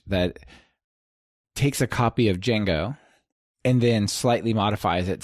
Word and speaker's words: Django: takes a copy of Django and then slightly modifies it set up py and publish it under Django or Django or whatever like how you pronounce it without the J right so if people